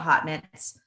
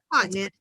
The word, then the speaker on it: Haute Knit: I know some people call it Hot Knits, but Hot Knit. It's Hot Knit. It's like Haute Couture.